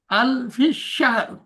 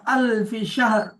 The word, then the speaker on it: ألف شهر: আলফি সাহ আলফি সাহ ألف شهر. ألف شهر. আলফি সাহ আলফি সাহ ألف شهر. ألف شهر. আলফি সাহ স্যার আলফি সাহ শেষে একটা র উচ্চারণ হচ্ছে না, আলফি শাহর।